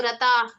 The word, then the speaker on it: रताः: So, but the thing to remember is not to overemphasize the sound of the letter, the sound of the ha syllable at the end. So, rata, Rata. just enough to acknowledge रता the notation there, but not too over the top.